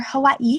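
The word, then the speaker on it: Hawaiʻi: is in here from Hawaii or Hawaii how they pronounce it there's apostrophes in the words and I'm practicing them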